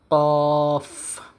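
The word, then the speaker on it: كاف: না কিন্তু আরবি হরফ আরবিতে বা কোরআন তেলাওয়াতের ক্ষেত্রে যখন আমরা কাফ উচ্চারণ করব তখন আমাদের বাতাস নির্গত হবে।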